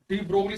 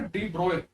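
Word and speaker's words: de Broglie: जैसे इससे पहले हमने एक डी ब्रोगली साहब ने, डी ब्रोए, इनकी सही प्रोनाउंसिएशन क्या है, डी ब्रोए, जबकि किताबों में क्या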